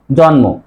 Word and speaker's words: জন্ম: নয় আবার দেখো এই দন্তনা থাকলে কি হয় আমরা কি উচ্চারণ করি যে জন্ম উচ্চারণ করি কি জন্ম কেন করি এই যে ন দন্তন্য এর সাথে ম ফরা থাকলেই মর উচ্চারণ বজায় থাকে মর উচ্চারণ ন হবে সে কারণে উচ্চারণ জন্ম আরেকটা হচ্ছে দেখো ত